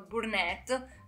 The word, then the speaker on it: Burnett: binet burnett certo naso google e la pronunciano burnett quindi io la pronuncio come spero sia corretto spero non mi si